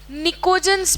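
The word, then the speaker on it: pnictogen: के साथ साथ इनको निकोजन्स भी कहते हैं। निकोजन, P इज साइलेंट।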